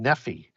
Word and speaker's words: Nephi: that type of word as a Nephi would normally end as a name or a patronymic name received eponymously from the tribe in an iy so that would be pronounced nephy um and just as